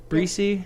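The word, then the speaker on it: Bresee: well and that is I think his name is Brian brussey Breezy right yeah yeah is that how you pronounce it defensive interior from Clemson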